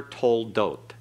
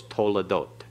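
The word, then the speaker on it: תולדות: This is never toldot, it's toledot.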